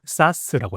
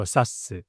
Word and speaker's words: SaaS: 첫 번째, 발음은 SaaS라고 해요. SaaS. SaaS.